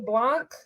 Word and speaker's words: Blanc: Brendan White, Anthony Agogo, Agile Blanc. Is that how you say it? It is.